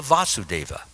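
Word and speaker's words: Vāsudeva: stop for one moment so often I hear devotees pronouncing these two names as the same Vasudeva Vasudeva okay who is Vasudeva yes and who is Vasudeva his father yes so there's a slight difference in the pronunciation Vasudeva like V us and Vasudeva like Vash yes so we should beware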